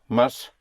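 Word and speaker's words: más: You may have you may have heard because it's used so much the expression mas or menus.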